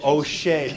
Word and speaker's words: Hosea: It's Hosea. O'Shea. Yeah, no relation. But it's O'Shea. It's spelled the same way, Hosea.